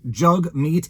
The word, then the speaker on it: Jagmeet: meat sing is yes his name is pronounced jug meat he made that joke